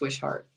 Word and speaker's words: Wishart: And then it's Wishart, not Wishart, Wishart. You know what? You can say it either way, but it's like pretend that there's two H's in there. It's Wishart.